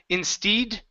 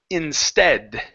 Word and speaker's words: instead: to this word here instead of in steed the word is instead instead instead good good